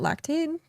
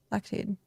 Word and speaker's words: Lactaid: Is it lactate? Is that how you pronounce it? Lactate? Lactaid? Lactaid.